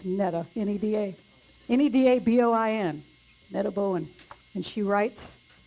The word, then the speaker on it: Neda Boin: N-E-D-A-B-O-I-N.